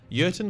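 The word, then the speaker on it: Jurten: the name of colonel yerton starts with a j but because he's german the jay is silent urton got in contact with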